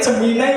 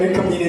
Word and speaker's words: Gemini: Materi yang kedua adalah Nah, Gemini story book nanti Jeminai ya. Saya silak bacanya geminai Bapak Ibu yakin saya ngomongnya baru Gemini terus ya Gemini enggak Gemini bacanya jemin ya coba Bapak Ibu 1